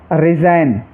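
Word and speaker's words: resign: ऐसे ही रिज़ाइन और साइन।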